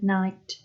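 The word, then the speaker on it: knight: castle that kind of night and this one without the silent k is when you go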